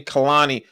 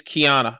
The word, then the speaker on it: Kiana: YEAH, I I I mispronounced your name. Kehani is Kiana.